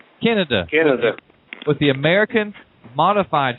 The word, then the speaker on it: Kenneda: Kenny, I know I'm going to mispronounce it. Kenneda? It's Kenneda.